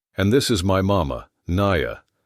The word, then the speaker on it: Naya: "I'm Star," she said, "and this is my mama, Naya." She pronounced it Na-ya, the Apache way, and there was pride in her voice despite everything they had endured.